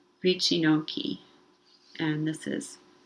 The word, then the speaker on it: wycinanki: about polish art called richinoki and this is how it's written and i put the phonetic pronunciation underneath hopefully it's something close to this vicinoki and this art form